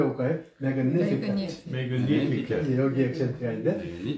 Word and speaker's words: Magnificat: Magnificat. 한번 발음해 볼까요? Magnificat. 여기 액센트가 있는데, 근데 또 아마 저기 그 라틴 사람들은 G 발음을 안 하는 모양이에요. 그래서 Magnificat라고도 발음을 해요.